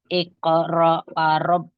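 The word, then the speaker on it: اقرأ: e Coba diulang lagi iqraab Iqra Iya IQ ditekan dikit kalau ada sukun ditekan dikit IQ al iqbukal AKR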